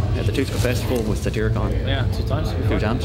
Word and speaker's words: Satyricon: I can't pronounce it. I'm sorry. Satyricon? Satyricon, yeah.